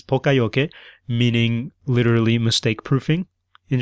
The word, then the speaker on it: poka-yoke: But don't say pokey because that's really off. Pronounce it more like the Japanese.